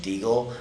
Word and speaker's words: Degle: It's pronounced Degle, so Degle BJJ.